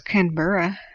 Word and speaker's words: Canberra: And I do know it's Canberra because I'm cool now.